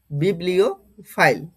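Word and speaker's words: bibliophile: ও substitution গুলি দেখব প্রথমে দেখো আমি এটার প্রোনাউন্সিয়েশন কি করেছি বললাম একটু আগে বিবলিও ফাইল বিবলিও ফাইল তাই না?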